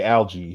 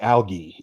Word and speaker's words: algae: was off with cuz he say algae he was like algae it is algae out here I'm like nah son take the hard G out of there he ain't got no